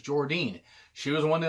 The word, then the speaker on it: Jordynne: I used to call her Jordan Grace until I realized it was Jordynne.